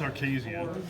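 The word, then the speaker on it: Archazia: It's Arcasia.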